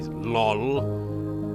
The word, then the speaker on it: lol: And it is pronounced that way, lol.